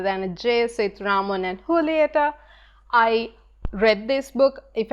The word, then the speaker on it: Julieta: this as Raman and Julieta but if you all have read the book you all know that it's pronounced with an H sound rather than a jsuit Raman and Julieta I read this book